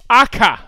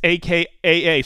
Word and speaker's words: Akaa: you okay yeah Finland akka Finland it's akaa so it's Finland Vince Vinnie